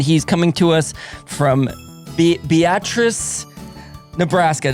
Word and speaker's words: Beatrice: coming to us from Beatrice Nebraska did I get that right Dylan yes that's how the locals say it Beatrice pronounce I mean